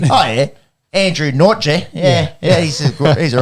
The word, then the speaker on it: Nortje: It's like Andy Nautica. Yeah. There's no kia in like if you looked at it like a fucking Aussie. Oh yeah. Andrew Nortje.